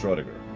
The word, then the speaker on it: Schrödinger: Schrödinger, or however you pronounce it. Get it? Anyways, I'd best be getting back that way myself. See you there, Lore. It's pronounced Schrödinger, by the way.